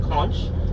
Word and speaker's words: conch: Some people pronounce it kunch. And they use it for kunk salad.